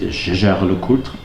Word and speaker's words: Jaeger-LeCoultre: The very famous manufacturer Jaeger-LeCoultre, or as the French pronounce it, Jaeger-LeCoultre, they also have an